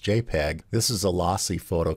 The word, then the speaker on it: JPG: Then there's the JPG, pronounced JPEG.